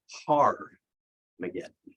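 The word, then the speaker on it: Har-Magedon: He says that the place in Hebrew is called Armageddon. And by the way, the true pronunciation is Har-Mageddon.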